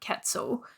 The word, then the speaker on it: quetzal: amazing sounding bird called the resplendent Quetzal it just sounded so impressive and it also rhymed with pretzel which you know I